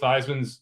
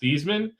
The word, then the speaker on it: Theismann: And yeah, there's a rumor out that Joe Theismann's name was pronounced Theismann, and then during his Heisman campaign, they encouraged him to change the pronunciation to Theismann because it rhymed with Heisman.